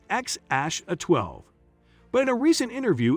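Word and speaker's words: X Æ A-12: they welcomed baby boy XAEA12 in 2020, pronounced as XASH12.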